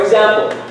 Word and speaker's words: example: They are pronounced as either IGS or EGS. So there's a GZ sound. For example, see, I just said it.